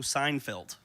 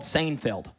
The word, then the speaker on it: Seinfeld: The show's called Seinfeld. It's spelled S Ei NFD. ei makes an a sound like vain.